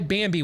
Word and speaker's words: Bambee: That's why Bambi was created, for small business owners just like you. BAMBEE. That's how you spell it. BAM and B, just like it sounds.